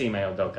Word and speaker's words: Ime Udoka: That's how you spell it. Oh yeah, it is Ime Udoka.